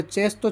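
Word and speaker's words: cesto: सी के बाद में ई आ गया, इसका उच्चारण हो जाएगा चेस्तो। चेस्तो यानी टोकरी, बास्केट।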